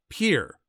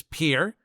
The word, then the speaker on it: Pierre: capital of South Dakota Pierre wrong she kept saying Pierre two syllables like the French name and he said it was Pier one syllable like what you fish off of he was set